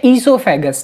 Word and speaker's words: oesophagus: को हम बोलते हैं ईसोफेगस, ठीक है। ओ ई है, मतलब ओ उसमें साइलेंट है।